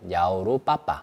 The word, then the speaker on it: 1688: 중국 내수용 도매 사이트입니다 1688을 중국어로 발음을 하면 냐오로 빠빠 알리바바와 발음이 비슷하죠 즉 1688닷컴은 중국인들이 사용하는